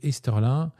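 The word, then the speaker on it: Easterlin: Et Esterlin, alors je l'ai pas prononcé à l'américaine mais pour vous les pl à la française c'est E A S T E R L I N.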